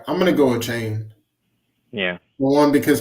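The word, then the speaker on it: Achane: name wrong a yeah a chain OB obiously like aan but a chain he's back he got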